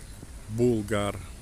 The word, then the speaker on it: Болгар: по-русски звучит как болгар, по-татарски звучит как булгар. Ну, говорят, что местные жители не возражают, и так называйте, как вам удобно. Озеро и место отдыха для местных жителей болгар или булгар.